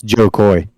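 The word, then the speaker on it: Jo Koy: in the day one of my favorite comedians Joe Koy cuz I was also trying to think of his name to make sure I pronounced it correctly it's Joe Koy and man he was talking about um kids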